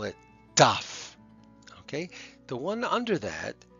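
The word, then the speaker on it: ταυ: It's pronounced taf. Taf. That's actually the name of the gramma of the letter, and it's the same as the letter T. It makes a t sound.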